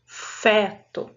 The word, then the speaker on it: feto: nome científico de feto Olha a palavra feto a letras as letras f e e a sílaba fe não acentuada mas com o som aberto feto desses nossos exemplos fé